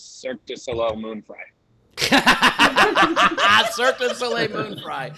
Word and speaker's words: Cirque du Soleil: had mgm graham presents cirque de soleil earth wind and fire wait rachel the correct way to pronounce it is cirque du soleil moon frye fillet moon